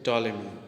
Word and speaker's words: Ptolemy: Here is a word that pronunciate टॉलेमी, Ptolemy, here P is silent.